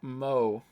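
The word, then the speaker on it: moe: around characters who possess such traits pronounced mo all right we're not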